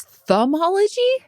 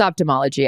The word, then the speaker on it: ophthalmology: Is thumbology? Did I say ophthalmology? No, I didn't. But it's TH, but is it pronounced thumbology? Or I thought it was ophthalmology. It's ophthalmology.